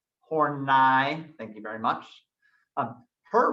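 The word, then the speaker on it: Karen Horney: karen hornai please pronounce it with the proper pronunciation horn i thank you very much her research was based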